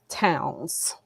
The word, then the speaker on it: Townes: definitely do that my name is town so you said it right okay okay um